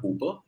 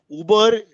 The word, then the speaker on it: Hoopr: Uber. So Hooper, when I call Hooper. My, how do you spell it? H-O-O-P-R. Hooper. Are yaar, enough cultures in India, the H will get swallowed.